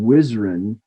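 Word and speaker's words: WHSRN: initials up here uh we tend to pronounce this uh acronym wizarin it's the western hemisphere shorebird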